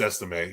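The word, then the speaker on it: Estimé: That's how you pronounce it? It's Estime, yeah.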